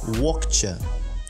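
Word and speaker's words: łokcie: то по-польски это будет локче. Локче. Локче. То есть, как вы уже поняли, эта первая буква читается что-то среднее между L и V. Это звук между L и V, который вы должны произносить.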